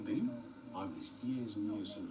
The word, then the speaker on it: Boehm: Boehm is spelled B-O-E-H-M. Has anybody just... I know him, Beam.